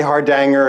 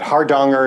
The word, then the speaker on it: Hardanger: You can say Hardanger if you like, but Hardanger is how I say it and how I most often hear it.